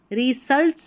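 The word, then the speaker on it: results: तो तुरंत को बोला जाता है इमीडिएट, स्पेलिंग याद कर ले, रिजल्ट्स नहीं बोलेंगे, एस को ज पढ़ा जा रहा है।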